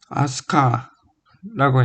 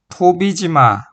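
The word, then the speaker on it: 飛鳥: 대표적인 예시로 아스카라고 읽히고 원래 이걸 훈독으로 한다면 토비지마라고 읽는데 아스카라고 읽히고 황혼이 타소 가리에로 읽히는 것을 들을 수 있다.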